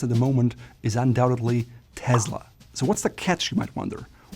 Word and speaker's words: Tesla: Well, Tesla was actually a Serbian-American immigrant and scientist, and they use a harder S. like Tesla. Americans oftentimes use the softer S, Tesla, versus Tesla.